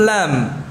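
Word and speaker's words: ل: Berikutnya huruf lam. Ya, lam ini kita ucapkan tidak sama dengan L. Mirip ya, mirip dengan huruf L ya. Lam itu mirip dengan huruf L dalam pengucapannya.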